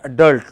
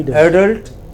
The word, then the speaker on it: adult: You can say adult like many Americans do, or you can say adult like many British do. Okay, you can say it either way.